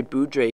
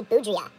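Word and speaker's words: Boudrias: the departure of Andre boudre hello everybody um after filming this video and I'm in the process of editing I realized butchered this guy's name it's actually Andre boudia his centerman who he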